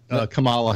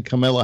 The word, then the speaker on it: Kamala: politics and he was Sangin it was banging Camilla Harris and you're not can basically pronounce Camelot yeah Camelot so it was a bangin Kamala Harris and what else and and that's how